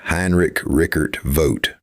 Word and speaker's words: Heinrich Rickert Voth: Heinrich Rickert Voth, pronounced Heinrich Rickert Voth, published extensive Hopi traditions.